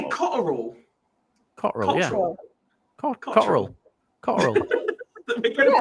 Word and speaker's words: Cotterill: Cotterill, yeah. Cotterill. We're going to pick everything up. It's got 3 syllables. Cotterill. Cotterill. That's 3 syllables.